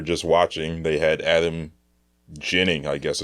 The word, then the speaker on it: Ginning: So this game we were just watching, they had Adam Ginning, I guess it's pronounced. Yeah, it looks like Ginning, but Ginning, like gin rummy, I guess.